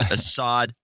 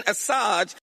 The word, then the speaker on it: Assange: Hillary losing, and then she has this interesting mispronunciation of Julian Assange. Oh, yeah. Now, this is Julian Assad ISO. With WikiLeaks, Julian Assange.